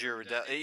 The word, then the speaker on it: Ghirardelli: It's Ghirardelli.